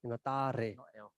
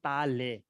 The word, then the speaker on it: Tare: It's R, Ta Re. It's not Ta Le.